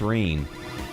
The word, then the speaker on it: Rene: My name's Rene. Rhymes with clean, but I feel more like cleaning some clocks right now.